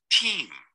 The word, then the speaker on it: team: Team. Team. Team. Remember that it's not team, no termina en N, termina en M. Entonces la M se pronuncia así. Mm. It's a labial sound, es un sonido labial.